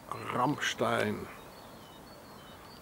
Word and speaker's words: Ramstein: So there's once more Ramstein, or as the Americans pronounce, Ramstein.